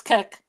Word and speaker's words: Kek: That's Kek. Kek. pronounced like you're laughing, but it looks too much like Peppy the Frog meme.